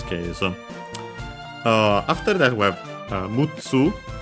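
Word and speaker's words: むっつ: And yeah, mutsu, accent on the tsu.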